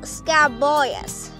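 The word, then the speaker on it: scabious: flowers right beside it is called the small scab boyus which is spelled s-c-a-b-i-o-u-s now if you come over here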